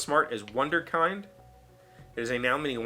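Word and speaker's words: Wunderkind: without his father's connections Wonder kind w u n d e r k i n d that's what this pronunciation kid key says I've always heard Wonder kid no I guess Wonder kind is correct I don't know that's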